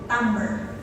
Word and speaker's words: timbre: In English we pronounce it as so pwede niyo ng palitan yon. Parang ha ayoko yung tamber ng boses mo ha.